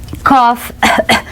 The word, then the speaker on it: cough: Headache, backache, stomachache, diarrhea, anxiety, cough, não confundir com coffee.